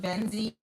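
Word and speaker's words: Venxii: So, I pronounce it Benzeed, B E N Z E E, but the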